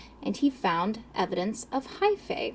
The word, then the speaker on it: hyphae: he found evidence of hyphae i think that's how you say it hyphy i think it's high fee h thank you thank